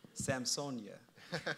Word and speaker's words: Samsøñ: He is currently the owner, director, and preparator of Samsøñ. Did I say it correctly? Samsøñ. Samsøñ, formerly Samson Projects, founded in 2004.